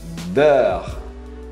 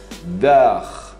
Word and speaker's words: beurre: Manteiga, beurre. B-O-U, beurre. É um pouco mais complicado porque é uma fonética diferente da nossa. Beurre. Você não fala beurre. Não, não tem pronúncia do E final.